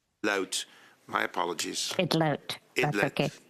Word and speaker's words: Idlout: And just very quickly, the way to pronounce my last name is Idlout with an L. Idlout.